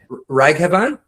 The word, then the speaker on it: Raghavan: Divya I believe is the pronunciation of your first name, right? But then Raghavan?